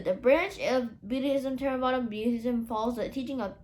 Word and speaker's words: Theravada: Number 1, Theravada, pronounced more or less Theravada, Buddhism, which is practiced by approximately 94% of the population, is the official religion of Cambodia.